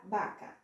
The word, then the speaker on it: vaca: A consoante V é totalmente diferente. Sempre o V vai ter som de B, mas é um leve som de B. Tipo a palavra vaca, eu vou pronunciar vaca, vaca.